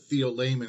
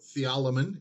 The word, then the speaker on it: TheoLayman: pronouncing it you can pronounce it with the same Rhythm as the word Theophilus from the Gospel of Luke in the book of Acts so theolomon if you wish or